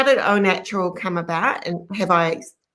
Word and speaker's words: Au Natural: your background right so oh natural skin food yes you have pronounced it properly it is spelt a u which is a little bit confusing but it is pronounced o h and o natural is o is the